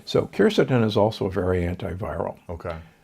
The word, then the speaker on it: quercetin: I'm a big fan of quercetin, sometimes pronounced quercetin.